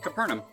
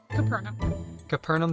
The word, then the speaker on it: Capernaum: How do you pronounce this place? Capernaum. Capernaum Studios.